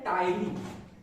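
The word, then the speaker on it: ptyalin: क्या होता है, एंजाइम, पी से शुरू होता है, याद रखिएगा, स्टार्ट होता है पी से, पी साइलेंट है, टायरिन नाम का एंजाइम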